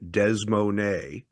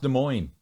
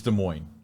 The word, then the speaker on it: Des Moines: heading down and we will be landing in desmon in uh 20 minutes yeah desmon it's pronounced De Moine and if you're from there and you say